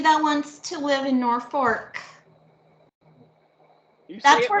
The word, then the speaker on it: Norfolk: It's Norfolk. Norfolk. My parents both grew up there. They call it Norfolk. Norfolk, something like that. I know it's not Norfolk. There's no R. You don't pronounce the R.